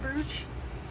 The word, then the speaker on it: brooch: Because it's spelled brooch? I mean, I've known my whole life it's brooch. But then it just, like you, it gets stuck in my head like brute.